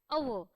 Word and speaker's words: hour: Then next comes the most important part, an hour. Now though the word is having h at the beginning, still when we are pronouncing this word we do not pronounce the letter h.